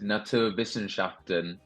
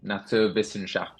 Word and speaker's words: Naturwissenschaften: this at school, is Naturwissenschaften, which is, firstly six syllables, so it's a lot for an Englishman, but it is just German for sciences, basically. Oh, It's absolutely ridiculous, but it sounds fantastic. Naturwissenschaften, it kind of just